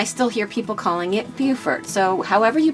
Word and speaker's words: Beaufort: the name of this town some folks say pronounce it Beaufort we were told that North Carolina this town is called Beaufort pronounced Beaufort and the same name for this town in